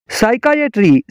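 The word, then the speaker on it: psychiatric: का P silent है साइकाइट्रिक साइकाइट्रिक का मतलब है नसिया अमराज का इलाज साइकाइट्रिक कापी साइलेंट है सोडो सोडो का मतलब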